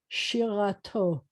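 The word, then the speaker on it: שירתו: This is a she, and then a ra, and then a to, shirato. And I'm going to tell you that the accent in Hebrew is almost always at the end of a word.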